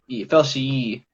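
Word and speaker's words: feltiae: that's steener steiner nema so s-t-e-i-n-e-r-n-e-m-a and then felsie l-f-e-l-t-i-a-e fell she technically but um sometimes i pronounce him wrong because even though i took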